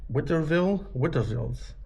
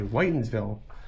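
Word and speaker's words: Whitinsville: And this is Witterville's. I think I'm saying it right. Maybe you can correct me on this one. It's called Whitensville. Okay, Whitensville.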